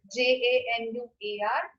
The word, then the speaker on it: Januar: So first is January, and the spelling is Januar, and I'll pronounce it as Januar.